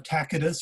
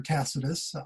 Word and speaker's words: Tacitus: And then, of course, we have Tacitus or Tacitus, you can pronounce it either way, and he wrote a